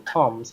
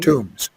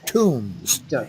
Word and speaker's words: tombs: correct your pronunciation oh that word is pronounced tombs and B is silent tombs Graves okay okay